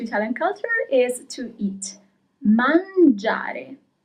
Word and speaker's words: mangiare: Mangiare. And that letter I is very important. If you hadn't that letter, then you will read the verb as mangare. But you have the I, so it becomes mangiare.